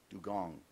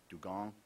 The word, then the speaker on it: dugong: This word has at least 2 acceptable pronunciations. Dugong, dugong. Dugong, dugong. The dugong grazes on green algae and seagrasses, and is able to remain submerged for up to 10 minutes. Dugong, also pronounced dugong.